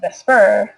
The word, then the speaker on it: VSEPR: theory the VSEPR theory or pronounced the spur like the creepy little thing that's in the bottom corner is a model used